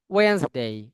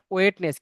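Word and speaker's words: Wednesday: লিখবে Saturday, Sunday, Monday, Sunday, Monday, টিউসডে, টিউসডে, টিউসডে, ওয়েন্সডে। Weil's not ওয়েটনেস, কি হবে?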